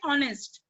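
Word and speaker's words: honest: जैसे ऑनेस्ट, ऑनेस्ट की spelling H से स्टार्ट होती है, पर सुना हम बोलते कैसे, ऑनेस्ट, है ना. प्रोनाउंस कैसे करते हैं, ऑनेस्ट.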